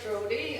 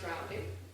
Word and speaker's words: Drowdy: Today we pronounce it Drody, and years ago it was pronounced Drowdy. Okay.